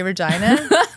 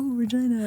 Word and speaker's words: Regina: You know if somebody's from Canada because when you say Regina they don't they don't laugh. But anyone that doesn't know they're like oh Regina. I'm like we all know what it rhymes with.